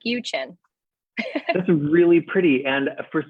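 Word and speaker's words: Uczen: Yes, it is spelled U-C-Z-E-N, so it's pronounced Uchin, like Uchin.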